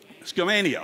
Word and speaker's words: Skamania: And look at some of these more exurban counties like Columbia, Yamhill, and I'm sure I'll mispronounce it, Skamania, is that right? Skamania, okay, I'll never make that mistake again.